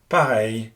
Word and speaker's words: pareil: The sound here is the same as the one in English hey or say, hence the French words oreille, pareil, and abeille.